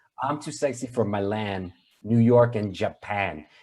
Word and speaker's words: Milan: I'm too sexy for Milan, New York, and Japan. He needed to rhyme with Japan, and he decided to say Yeah, Milan.